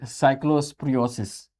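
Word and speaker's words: cyclosporiasis: Next article है साइक्लोस्परियोसिस। देख रहे हो?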